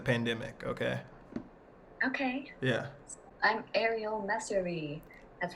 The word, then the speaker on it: Arial Messerli: I'm Arial Messerli.